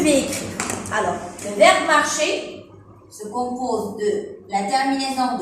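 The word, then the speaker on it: marchent: Il, elle, on marche, E. Nous marchons, ONS. Vous marchez, EZ. Il, elle, avec S, marche, ENT. ENT avec les verbes se prononce E.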